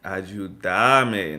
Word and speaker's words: ayúdame: In Colombia, they're gonna say ayúdame, ayúdame, not ayúdame, ayúdame. Because it's vos, you put the stress on the second part of the word, ayúdame, decime, llamame.